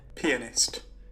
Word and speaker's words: pianist: If you want to say the word pianist, make sure you pronounce the A, please.